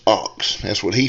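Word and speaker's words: Ochs: his last name is spelled o c h s but it is pronounced ox that's what he said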